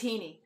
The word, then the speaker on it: Heaney: So, it's not Haney, it's Heaney? It's Heaney.